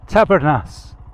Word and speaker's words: Tabernas: I know how to pronounce it at last. Tabernas. With a roll of the R if you can manage it.